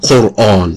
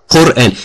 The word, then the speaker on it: Quran: you the is not it's not Quan it's quanan Quran he doesn't know how to pronounce it I have to